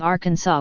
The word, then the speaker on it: Arkansas: 1881 the pronunciation of Arkansas with the final s being silent was made official by